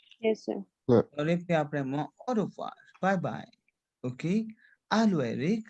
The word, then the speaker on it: au revoir: Like Aurea? Au revoir. Au revoir. Aurea? Au Au revoir. C'est clair? Okay, because OI sound is wa.